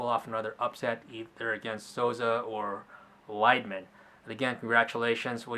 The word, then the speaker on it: Souza: or should he fight Souza sauza salsa there you go that's how you pronounce it Sosa yep I think either